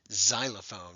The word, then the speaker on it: xylophone: probably already know this the x is often pronounced as a z so instead of cilophono we get xylophone we don't say xylophone